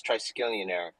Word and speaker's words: Triskelion: Okay, I'm going to try my best to pronounce this. So Triskelion. Did I say that right? Yes, you said that. It's Triskelion. Triskelion.